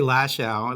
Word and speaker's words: Lachow: your family pronounced well I say lash our that's how it's brought up but some people say the chow well who are the some people my son's a rapper and he says because it rhymes with a lot more things so since he's better